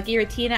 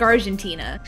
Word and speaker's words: Giratina: to call kyogre oh no i used to pronounce uh giratina i for some reason i said argentina no oil all right let's move on from